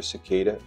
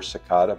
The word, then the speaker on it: cicada: look this up and you can pronounce it either cicada or sakata both are correct sort of like tomato or tomato but different um we're going to